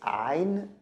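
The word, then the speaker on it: عين: It's pronounced the. Okay. The next one is ayn.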